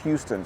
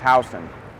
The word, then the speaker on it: Houston Street: It's called Houston, by the way. It's not pronounced Houston.